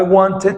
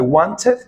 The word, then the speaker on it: wanted: Por ejemplo, en este caso, I wanted to go. Ahora, algo importante que debes de saber en la pronunciación de este verbo, que puedes decir I wanted o I wanted, sin pronunciar la T.